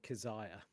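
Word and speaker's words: Keziah: kazaya kzia um um when I listened to um on YouTube the dreams in the witch house they said kaziah okay so that's what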